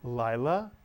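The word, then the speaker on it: לילה: lillah Mitsu yon and notice the PATA followed by the hood is the english vowel i as in the word high so the word is Lila Lila is night Yom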